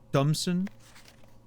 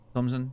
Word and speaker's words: Thomson: The H is silent. What do you mean, Thompson? Thomson.